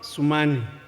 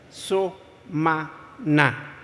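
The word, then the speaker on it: Sumana: So-ma-na, not Sumani, not Sumanu. So-ma-na.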